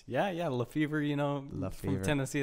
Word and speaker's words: LaFever: The honor of hosting second episode, LaFever. That's right. That's how we pronounce your name. Yeah. LaFever.